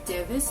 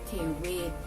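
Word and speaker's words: เทเวศร์: But I learned that this was actually not Devis, but it was Tewet.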